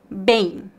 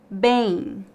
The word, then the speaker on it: bem: de mim para praticar bem bem a letra e fica nasal e temos um leve ditongo bem bem não há o